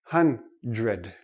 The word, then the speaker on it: hundred: another one is dr dr also doesn't really sound like dr we don't say hunt read ok it's too difficult for the tongue to make the quick switch so this sounds like JR hundred hundred hundred now this